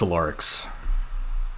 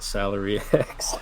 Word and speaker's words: Solarix: It's Solarix. Because I saw that and thought Salary X.